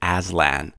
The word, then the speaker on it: Aslan: between our salon and Aslan and indeed there is they are two different ways to pronounce the same word which means lion in Turkish help ours lands main